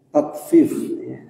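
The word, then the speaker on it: تطفيف: Ada tatfif pakai ta, artinya mempermainkan timbangan. Kalau buat mereka minta dilebihin, kalau buat orang lain dikurangin. Ini walaupun mirip pengucapannya, beda dengan ta'fif. Ta'fif itu berkata uf kepada orang tua, itu yang nggak boleh. Fala taqul lahuma uf. Perkataan uf disebut dengan ta'fif pakai hamzah.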